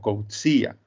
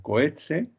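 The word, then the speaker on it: Coetzee: que ángel me corregirá creo que su apellido en inglés sudafricano se pronuncia algo así como code cia bueno todos creo que nos referimos a él como cohete y yo voy a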